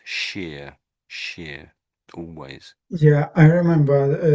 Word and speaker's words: shire: Um, and then anywhere you see this this this shire stuck onto the end of a word, it it's always pronounced sheer, sheer, always.